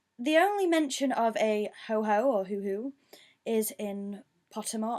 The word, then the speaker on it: Hoo-hoo: I think it might be said as ho-ho, I don't know, it could be hoo-hoo or ho-ho. It's spelled H-O-O-H-O-O. Ho-ho, sometimes known in English as the ho-ho bird, yeah it's ho-ho, is the Japanese pronunciation